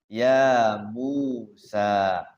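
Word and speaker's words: يا موسى: Ya Musa. Dua harokat semua. Mad tabi'i semuanya ya. Teger ya. Ya Musa. Jadi ngukurnya sama. Dua harokat itu ketukannya itu sama. Ya Musa. Jangan panjang-panjang.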